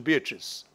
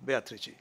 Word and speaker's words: Beatrice: Interestingly, in the five works where Rabindranath mentions Beatrice, he spells the name in Bengali to reflect the Italian pronunciation, not the English pronunciation Beatrice, but the Italian Beatrice.